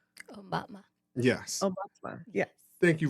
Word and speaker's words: Aumatma: Yes, it's Aumatma. Aumatma.